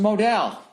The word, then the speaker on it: modal: and feel fantastic uh note modal is pronounced Modell modal meundies is made